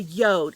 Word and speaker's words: Jord: And the first one is I want to re-mention this beautiful Yode watch. I recently was emailed by the company from the Yode. It's pronounced Y-O-D-E, and it's from Norse language, Norse tradition, and the word Yod stands for earth.